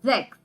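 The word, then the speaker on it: sechs: one of the exceptions six is called as sex and 10 is called as then but in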